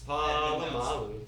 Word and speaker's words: Polamalu: it's Polamalu. Edmund Nelson. He was a sideline reporter. He was.